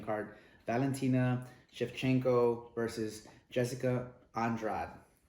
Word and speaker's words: Andrade: Valentina Shivchenko versus Jessica Andrade. They say Andrade, but we pronounce it Andrade in Spanish.